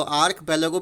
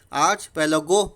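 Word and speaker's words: archipelago: Example में दिया हुआ है इन द इंडोनेशियन आर्क पेलेगो, ठीक है, इसको आर्क पेलेगो भी बोल सकते हैं, आर्च पेलेगो भी बोल सकते हैं, दोनों तरह से उच्चारण होता है इसका, ठीक है।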